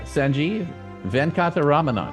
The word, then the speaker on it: Sanjeev Venkataramanan: And the first thing I have to do is make sure I try to get his name pronounced correctly. So, Sanjeev Venkataramanan.